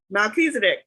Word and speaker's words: Melchizedek: how to pronounce it Melchizedek pronounced male he's a dick so I guess I